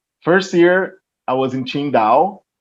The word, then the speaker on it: Qingdao: First year, I was in Qingdao. It's spelled Qingdao, Qingdao.